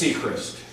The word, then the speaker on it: Sechrest: It's Seacrest. Is that It's spelled?